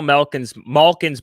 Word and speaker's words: Malkin: I pronounce it with like a short A, but it's Malkin. Yeah. And I've said M-A, like ma, instead of ma.